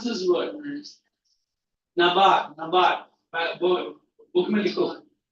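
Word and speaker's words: NABARD: How do you pronounce this word? Nabar.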